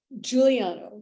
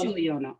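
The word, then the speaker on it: Guiliano: Jacqu Pepan and Mire Guilliano, how do we pronounce Mire's last name? Juliano. It is Juliano.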